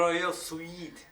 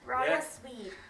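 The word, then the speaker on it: Royal Suite: ว่า Royal Sweet อื ต้อง บอก ว่า ออก เสียง ให้ ชัด ๆ Royal Sweet Royal Sweet ครับ ผม ซึ่ง จะ อยู่ ชั้น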